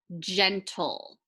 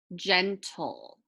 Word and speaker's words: gentle: And we'll cross out the E because it's silent. This will make the toll, toll.